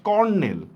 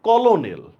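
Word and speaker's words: colonel: উচ্চারণ হয় না বা এই দেখেন কর্নেল কর্নেলের বানানটা হচ্ছে সি ও এল ও এনই এল কর্নেল লিখছি কিন্তু কলোনেল উচ্চারণটা হইতেছে কিন্তু ওয়ান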